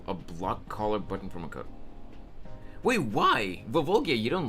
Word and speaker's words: Makoto: bug me it's not it's not supposed to be Makoto the emphasis is supposed to be on the first syllable it's Makoto not Makoto Makoto is uh the Americanized pronunciation which it's not a